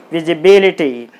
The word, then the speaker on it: visibility: So you put the stress mark on B-I-B. Then it will be pronounced as visibility.